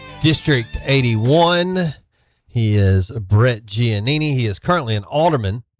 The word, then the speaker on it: Giannini: Giannini. And am I saying it right? By the way, I that's correct, isn't the That's correct correct. pronunciation? Yes. Giannini.